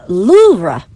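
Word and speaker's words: Louvre: the correct pronunciation is Loura with a very soft pronunciation of the R. Louva.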